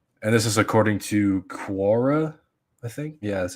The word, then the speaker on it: Quora: And this is according to Quora, I think. Yeah, that's how you pronounce it.